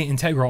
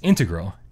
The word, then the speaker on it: integral: People say integral all the time. And it's integral. Yeah. Or that's how I would pronounce it.